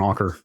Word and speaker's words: Anker: I saw like I was looking at an anchor anchor anchor anchor are you an Anker that's my understanding is that's how they pronounce it okay uh I saw an ad